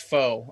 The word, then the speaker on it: Pho: name right yeah yeah it's fo um we don't pronounce it or you know the way the soup is pronounced but okay i was like is it like the soup where it's like fu no yeah yeah it's